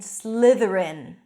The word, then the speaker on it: Slytherin: The 4 houses are called, pay attention to the pronunciation, Gryffindor, Hufflepuff, Ravenclaw, and Slytherin. Sliv, voice th, rin.